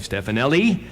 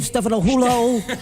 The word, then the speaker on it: Stefanelli: Delp, Barry Goudreau, Tim Archibald, Brian Maes, Stefanelli. Nice Italian boy. You said it right. That's great. Is that right? First guy that's ever What do they said it usually right. say? They go, Stefanohulo.